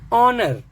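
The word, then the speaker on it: honour: नहीं है आप देखिए ऑनर ऑनर क्या है इसमें एच साइलेंट इसको समझना इसलिए भी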